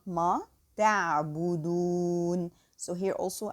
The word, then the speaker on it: تعبدون: تعبدون. So here also I have to pronounce this whole word all light because all letters are light.